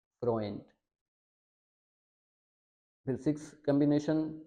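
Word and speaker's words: Freund: अब इसको बहुत सारे स्टूडेंट्स मेरे ऐसे होते हैं जो ख़ास तौर पे जो इंडियन पंजाबी होते हैं, उनको बहुत मुश्किल आती है इसके अंदर, पाकिस्तानी भी उनके बहुत सारे होते हैं, वो अक्सर इसको फ्रुंड पढ़ते हैं, फ्रुंड या फ्रियुंड, तो ये गलत है। ए ऊ को हमने पढ़ना है ओए, तो इसको हम पढ़ेंगे फ्रोएंट, फ्रोएंट।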